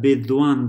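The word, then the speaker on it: विद्वान्: And notice that bidwan, the half da is pronounced on both sides, bidwan.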